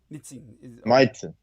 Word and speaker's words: Mitsein: Mitzin.